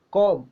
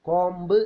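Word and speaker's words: comb: ബി ഈസ് സൈലൻറ് ബോംബ് കോം we know what is കോം കോംബ് എന്ന് നമ്മൾ പറയലുണ്ട് തെറ്റാണ് കോം കോം next the ഈസ് സൈലന്റ്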